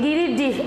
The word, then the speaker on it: গিরিডি: শব্দে দেয়া আছে গিরিডিহ, কিন্তু আমি মাত্র যেটা উচ্চারণ করলাম এটি গিরিডিহ, অর্থাৎ ডিজেটা হ হয়ে যাবে, গিরিডিহ জেলার প্রধান শহর।